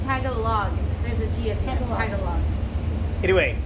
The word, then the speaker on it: Tagalog: it's tagalong tagalog tag along but it's not pronounced tagalog no it's tago log there's a giant title anyway um aside from